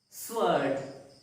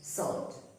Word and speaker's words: sword: Sword. It is not sword, but it is pronounced as sword.